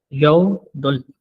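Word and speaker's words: 여덟: आठ को यऊ दल अच्छा बी बीएफ यहां पे साइलेंट है। ठीक है? ये जो बीए अप है यहां पे साइलेंट है। यदुल ठीक तो बीएप हो गया। साइलेंट तो यद हो गया अ हो नौ को यल 10 को।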